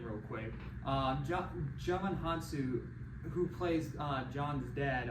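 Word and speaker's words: Djimon Hounsou: I have no idea to say his name Jamin hansu I had to freaking look up how to say his name real quick um German hansu who plays uh John's dead um our achievement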